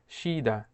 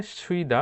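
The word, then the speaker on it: 쉬다: Korean ভাষায় বিশ্রাম নেওয়াকে বলা হয় শিদা। শিদা। শিদা অর্থ হচ্ছে বিশ্রাম নেওয়া। যদিও এখানে সুইদা অনেকে উচ্চারণ করে থাকে সুইদা। সুইদা, এই সুইদা উচ্চারণটি ভুল উচ্চারণ। সঠিক উচ্চারণ হচ্ছে শিদা।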